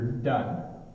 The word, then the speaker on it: done: just stays open and done done and then down my mouth makes a noise now done you end with your tongue at the top of your mouth so it done and